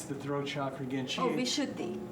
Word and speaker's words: Vishuddhi: So now, for instance, and how do you pronounce the throat chakra again? Vishuddhi. Vishuddhi.